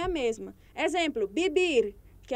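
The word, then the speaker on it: vivir: é a mesma exemplo bibir que é o verbo viver se escreve com V mas se pronuncia com som de b então é ia também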